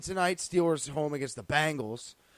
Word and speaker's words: Bengals: We got Week 4 coming to a close tonight with the Steelers home against the Bengals, a battle of the 0-3s.